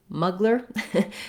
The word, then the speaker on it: Mugler: the english version or the english pronunciation of this name was more like thierry so that's of course using the american r the american vowels and then they would read this as muggler so it sounds quite different i would say doing